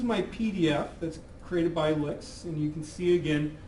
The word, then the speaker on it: LyX: There are some minor differences to it just to show you what licks can do. Uh, do note that, you know, this is again pronounced as an L KS, LIC KS, uh, licks.